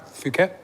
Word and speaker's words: Phuket: okay I went uh is it am I pronouncing it right Phuket Phuket Phuket I said yeah oh my God